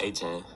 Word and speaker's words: Achane: Devon Achane.